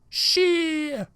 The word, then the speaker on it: shit: times you should also pronounce it with a silent T like this she here is an example